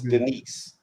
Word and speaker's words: Denise: His name's Denise. That's his first name. I thought it was Dennis. So okay. No, it's Denise. It's pronounced different because of You talking about that 30?